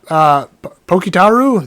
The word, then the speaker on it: Pokitaru: But yeah, Pokitaru, that's what it is.